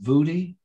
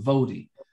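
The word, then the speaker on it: Voddie: I've heard his name pronounced Vudi, and I've also heard it pronounced Vodi, but his last name is Bakum.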